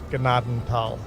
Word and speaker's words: Gnadenthal: I'm telling you how to pronounce Gnadenthal.